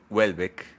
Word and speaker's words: Houellebecq: tapujos que este señor Michelle Welbeck, como en francés según se debería de pronunciar, si ustedes debería, si